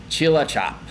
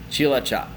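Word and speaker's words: Cilacap: tongue twister It's Tricky so this is Chila chop Chila chop and Chila chop is a city down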